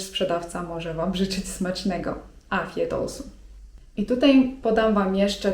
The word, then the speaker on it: afiyet olsun: I nie zdziwcie się jeżeli w odpowiedzi na ten zwrot usłyszycie: afiyet olsun (czyt. afjet olsun) To oznacza 'smacznego'.